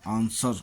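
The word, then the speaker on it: answer: W silent W आर या डब्लू एस डब्लू में डब्लू प्रायः साइलेंट रहता है, जैसे रैप लपेटना, रिस्ट कलाई, रैक छती, राइट लिखना, आंसर उत्तर, सोर्ड तलवार।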